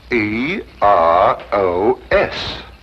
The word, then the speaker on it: Eros: where there shouldn't have been one what then spell it as she spelled it but without the H e r o s precisely and here he is Cupid the Greek